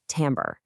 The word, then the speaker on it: timbre: It's pronounced tambber.